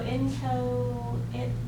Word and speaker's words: inchoate: So a teenager is inchoate. It's inco, it's not cho, inchoate. I don't really know how to pronounce it basically, but it's not cho, it's co.